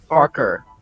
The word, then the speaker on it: Farquhar: However, the original pronunciation is Farker, sort of like Fokker, as said again in the book narrations.